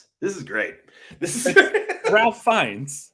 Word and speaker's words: Ralph Fiennes: This is Ralph Fiennes. It's Ralph? Yes. He goes by Ralph? It's Ralph. Story? I mean, I know it's spelt Ralph, but I thought he like pronounced it Rafe.